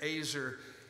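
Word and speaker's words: עזר: In the Hebrew, it's pronounced azer.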